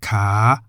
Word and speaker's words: ขา: On the other hand, we have ka, meaning leg, in the rising tone as it begins with the high-class consonant kokai.